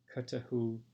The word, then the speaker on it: Cthulhu: Cthulhu. Make sure you pronounce that second H.